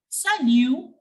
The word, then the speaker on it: salut: Here also I have not pronounced the T. The T was completely silent because it doesn't come in careful.